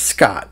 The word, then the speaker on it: Skaght: And number 5, Eagle Eye viewers will notice that I sign my artworks SKAGHT. It's still pronounced Scott, but while I was in college, a friend of mine would email each other.